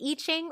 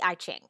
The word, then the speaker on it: I Ching: One of the 4 systems that informs human design is the I Ching or the I Ching. So I've heard it pronounced both ways.